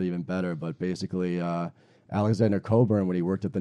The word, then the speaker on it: Cockburn: Coburn, yeah. Coburn. Many people pronounce it Cockburn, which is sounds painful.